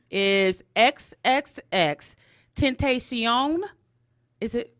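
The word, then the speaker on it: XXXTentacion: But his name is XXX Tentacion.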